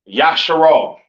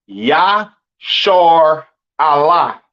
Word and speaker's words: Israel: And Israel is not pronounced Yasharal. It's not pronounced Yisrael in the Hebrew. That is not how you pronounce Israel. Israel is pronounced Yashar Allah.